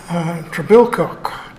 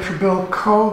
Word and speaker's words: Trebilcock: We don't say Trebilcock, that's our friend and colleague from the University of Toronto, but I understood that Trebilcock is the Cornish pronunciation, the original pronunciation, which should be preferred, but at any rate.